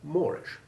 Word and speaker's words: moreish: with pool or fool can also be correctly pronounced with the double a4 sound of door and floor to make poor more and moreish this last word then rhyming with the funny adjective moorish meaning so delicious to